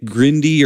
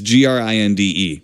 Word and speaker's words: Grinde: Now, the director, Nick Grindy or Grind, it's Grinde.